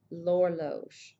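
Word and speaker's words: l'horloge: it's pronounced l so notice how the H is silent and my l sound just carries on to the O Lor the clock um always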